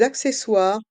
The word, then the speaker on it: accessoires: On fait la liaison avec le S de D et le A de accessoire. Des accessoires. Et les voyelles O et I se prononcent OUA. Accessoires. Et le R reste en suspens.